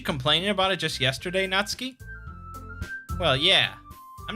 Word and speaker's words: Natsuki: But it's not Natsuki. It's pronounced more like Natsuki. It sort of runs together, I guess.